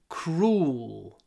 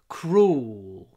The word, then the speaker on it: cruel: nature is sometimes very cruel Cru try to pronounce a lot of w before you get to the l sound at the end cruel cruel in fact the L